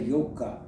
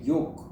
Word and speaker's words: yoga: conversation comes to yoga they don't say yoga they say yoke they don't pronounce the a very interesting the origin